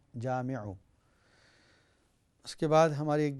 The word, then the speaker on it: جامعو: جمع کر دے گا۔ جامعو کی سپیلنگ ہے جیم الف میم اور عین، جامعو۔ اس کے بعد ہماری